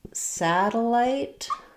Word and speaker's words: satellite: In satellite uh we have first syllable stress.